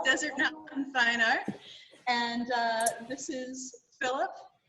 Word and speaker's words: Desert Mountain Fine Art: Arizona at an art gallery that I keep pronouncing wrong so I'm gonna have Philip say it Desert Mountain Fine Art that'll work better calling it Martin I don't know why desert Martin desert Martin Fine Art so it's Desert Mountain